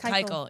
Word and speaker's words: Keuchel: How do you pronounce it? Keuchel, yeah.